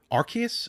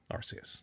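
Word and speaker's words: Arceus: at their uh podcast device probably as I mispronounced archus AR I don't I don't I'm already I'm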